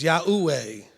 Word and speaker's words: Yahweh: It's Yahweh. There's no W in Yahweh.